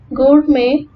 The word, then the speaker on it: gourmet: Letter T is silent in some French loan words such as ballet, gourmet, and rapport.